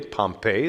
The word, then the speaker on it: Pompeii: this guy named pompey we sometimes pronounce him pompeii but pompeii is the official pronunciation of the city in italy pompeii the city that was destroyed by the volcano so pompey comes and